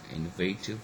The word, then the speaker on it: innovative: second syllable true okay likewise we have got innovative where actually the first syllable is stressed which shouldn't have been